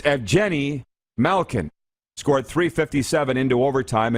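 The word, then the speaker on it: Evgeni: paul evgeny malkin scored its efjenny not ev jenny or evgeny it's evgeny malkin scored 357 into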